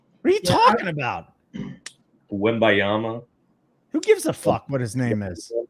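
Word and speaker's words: Wembanyama: if it's tonight though this is not the uh Wana you messed it up again wemi wanama that's what I said wanyama what did I say you said Jana you said wimba Yama then wama no Wim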